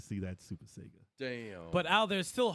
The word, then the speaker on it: Sega: breath play as a Sega fan don't hold your breath well that's s Sega Sega there you go that's how you say it close that was me